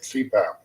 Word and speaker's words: CPAP: of heart or cardiologist acronyms abbreviations made up of initials that can be pronounced as a word like cpath continuous positive